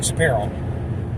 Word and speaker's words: Shapiro: Ben Shapiro.